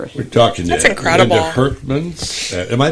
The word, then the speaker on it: Hurkmans: We're talking Herkman's. Am I pronouncing that correctly? Yes. The S is at the end. It's a Dutch name. Herkman's.